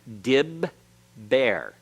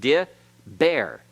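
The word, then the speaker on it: דִּבֵּר: the bagad CAF letters so how do we know it isn't just D bear because the Herrick is not a hurricane a hurricane is a long vowel that can close a syllable but the Herrick normally by itself is considered a short vowel and therefore can't form a uh open syllable it has to be closed so it's dib bear okay so the first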